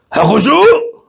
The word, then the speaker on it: Hakushu: Hakushu! Yeah, that's how you say it. Just from the guts.